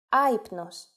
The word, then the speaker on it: άυπνος: If the letters of a two-vowel combination must be pronounced separately and the accent goes at the first letter, then simply an accent mark is placed on that letter. For example, άυπνος, meaning sleepless.